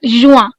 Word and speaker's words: juin: Then you have UIN. The sound is again. Wah. Okay. For exactly like Juin. Juin. This is Juin.